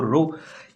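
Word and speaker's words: ρ: से रिप्रेजेंट करते हैं प्रोनाउंस करते हैं इसको रो ये होती है क्या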